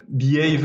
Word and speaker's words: BAVE: je vais devoir présenter le modèle bave parce qu'en fait tout part de là behave euh ça s'écrit be a ve ça veut dire se